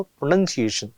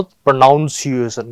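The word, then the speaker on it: pronunciation: एनय आता है हमेशा इसको बोलो प्रोनंसिएशन ठीक है न प्रोनाउंस एशन गलत हो जाएगा फिर वो चलो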